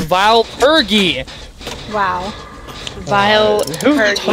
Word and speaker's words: Vile Purge: Vile purgy? Well, like the range that freaking vile purgy has is ridiculous. It's not vile of purgy, it's vile purgy!